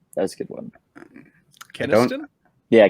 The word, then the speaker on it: Kenneston: Keniston? Yeah, Kenneston.